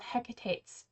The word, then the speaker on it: Hecate: which cult lacquer called hecate's tears I learned how to say it's Hecate um hec's tears and this is a